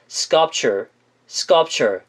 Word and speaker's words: sculpture: 자, 세부적인 내용으로는 sculpture 약간 스껍철 같은 느낌이 들어요.